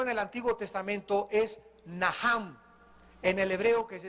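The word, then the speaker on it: nacham: el Antiguo Testamento es naham en el hebreo que se escribe nachan la ch en el hebreo se pronuncia como j y significa cambiar la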